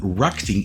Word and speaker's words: RacGTing: a new video today a review of The Rocking yes that is how you pronounce it stver 809 the 809 Falls bit